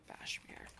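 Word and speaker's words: Bashmir: i r e r Bashir like Casmir but with a B yeah he's a half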